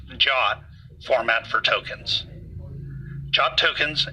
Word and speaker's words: JWT: use of the JSON web token or JWT pronounced the JA format for tokens job tokens and code a